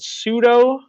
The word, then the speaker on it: pseudo: name it is called pseudo the P is silent see those stratified columnar